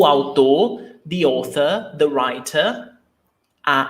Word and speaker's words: autor: Autor, 2 syllables. Au, diphthong, autor, the writer.